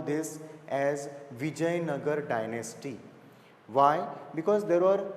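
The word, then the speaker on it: Vijayanagara: means uh the city it is not to be pronounced as Vijaya nagara it has to be pronounced as Vijay nagar okay though it is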